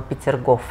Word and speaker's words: Peterhof: que es peter coffey peterhof se pronuncia en ruso se suena como pictures gov a que también fue